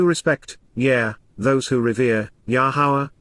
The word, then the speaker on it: Yahowah: yeah those who rever yahwah yahwah the proper pronunciation of the name of our ELO God